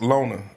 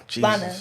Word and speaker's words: Lana: I want to pronounce her name right. Lona. Did I say it right? Lana. Lana. Okay.